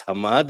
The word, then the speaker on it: Hamad: But it's still in many cases, people will not really pronounce Hamad as Hamad and they will pronounce it Mohammed.